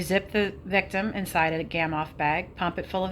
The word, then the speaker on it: Gamow: A gamoff, pronounced gamoff, was invented by Igor Gamoff in the late 1980s and has saved a lot of climbers from dying of hape.